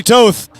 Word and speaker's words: Toth: There goes Ronnie Toth. Rhymes with both both ores in the water.